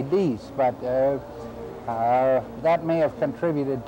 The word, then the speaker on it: dix: Other people think it comes from the French word for 10, which is D-I-X, In English we'd pronounce it dicks, but I think they say dees, but that may have contributed to it.